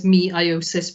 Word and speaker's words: meiosis: already have seen that i've started the slide by saying say meiosis to help with the spelling and as much as i can i will actually pronounce it as meiosis because it really will help you get these spellings right in tests because the